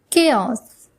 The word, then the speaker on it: chaos: And the next one is chaos. Chaos. C-H-A-O-S. The spelling is C-H-A-O-S and the pronunciation is chaos.